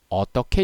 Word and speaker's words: 어떡해: 시작하겠습니다 먼저 어떻게 어떻게 이 두 표현 의 발음은 모두 어떻게 입니다 발음이 똑같아요 자 따라해 봅시다 어떻게